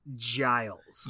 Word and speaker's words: Giles: His name is pronounced Giles.